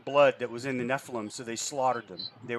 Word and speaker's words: Nephilim: It is Nephilim. That's the pronunciation.